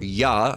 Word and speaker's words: Jah: heavens by his name, Jah, or Yah, as it should be pronounced, and rejoice before him.